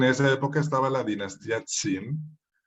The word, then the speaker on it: Qin: Esto se escribe así en el alfabeto fonético chino y se lee Qin, es un segundo tono, Qin.